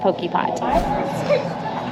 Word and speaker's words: Potjie: Also, if you're looking for this on the menu, it is spelled Potjie, but it's pronounced Poke Pot.